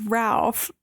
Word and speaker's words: Ralph: I always thought his name was Ralph. Oh, no, it is. Because it's spelled Ralph, but it said Rafe.